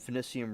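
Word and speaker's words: Finicum: If occupation turned violent, Finicium replied, I have no intention of spending any of my days in a concrete box.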